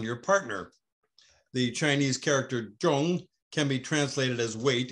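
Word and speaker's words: 重: However, the same character zhong can also be pronounced chong, translated as repeated overlapping.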